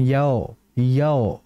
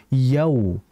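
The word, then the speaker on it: يوم: beberapa peserta yang mereka membaca dengan yao yao harusnya yau ini biasanya terjadi di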